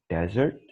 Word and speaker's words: desert: This one is desert, the sandy area, right? While the other word is pronounced dessert.